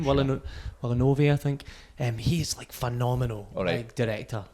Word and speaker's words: Villeneuve: And Dennis Villeneuve, or is that how you say his name? Villeneuve, I think.